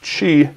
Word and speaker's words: Qi: like the Lumia 920, that has this Qi inductive charging built in, or I pronounced it wrong again, how about that, this Qi charging built in, this is the